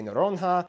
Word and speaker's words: Noronha: no rohingya okay so when you see nh together it's a nes sound the saint peter and